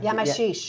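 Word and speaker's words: Yamachiche: Yamashish.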